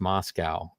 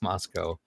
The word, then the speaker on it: Moscow: things was like uh oh okay it's not pronounced Moscow it's Moscow and um and it's it didn't happen over